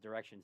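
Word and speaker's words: Direxion: 3x or diretion or I think it's just pronounced Direction sorry but you know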